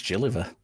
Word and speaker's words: Gilliver: Is it Gilliver or Gilliver? It's Gilliver. It is Gilliver.